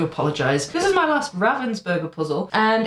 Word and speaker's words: Ravensburger: burger that I have sorry ravensberger I know it's pronounced ravensberger I even confirmed that with a German friend of mine but I keep saying Raven's book because that's what I'm used to saying so if I get